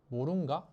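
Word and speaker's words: Mroonga: 그래서 이제 그 중에 하나가 이제 저게 모룬가 하고 조금 발음이 특이했거든요. 그러니까 모룬가라고 하는데 저게 이제 중국어, 일본어,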